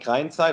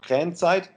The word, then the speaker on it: Krayenzeit: Yes, in German it's called Krayenzeit or Krayenzeit.